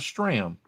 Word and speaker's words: Stram: His name rhymes with ham. Yes, so I was wondering. Yeah, you talking about Stram, Yep, Hank Stram.